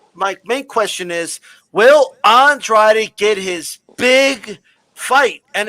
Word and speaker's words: Andrade: and people were yelling Andrade, and he's telling them, no, it's Andrade.